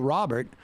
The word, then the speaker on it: Robert: Don't let Pascal know that I mispronounced his last name. It's Robert.